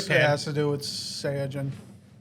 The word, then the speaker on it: Saiyajin: has to do with Saiyajin. It's a Japan It's thing. the way they pronounce. It's the way they pronounce Saiyan.